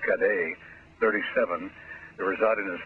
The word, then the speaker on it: Cadet: It's right next to the cockpit, and police spokespersons said that Ernest Cadet, or if you want, since he's Haitian, pronounced Cadet, 37, who resided in the state Nada, suffered a fatal gunshot wound to the upper body.